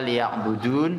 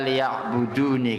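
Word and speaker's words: لِيَعْبُدُونِ: Kita biasanya membacanya illa liya'budun, ya. Di situ illa liya'buduni, kalau kita wakafkan liya'budun.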